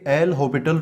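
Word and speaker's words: L'Hôpital: इसको और बोलते हैं देखो इसकी स्पेलिंग में तो वैसे हॉस्पिटल वाली स्पेलिंग है लेकिन है ना इसका जो एस है वो कुछ इस प्रकार साइलेंट रहता है तो इसको बोलते नहीं है प्रॉपर अगर आप प्रोनंसिएशन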